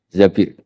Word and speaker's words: Zabir: di di hadis ini bukan bacanya bukan Zubair tapi Zabir Abdurrahman bin zbir tapi